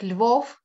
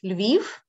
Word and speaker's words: Lviv: So it's not Kiev, it's Kyiv. It's not Lvov, it's Lviv.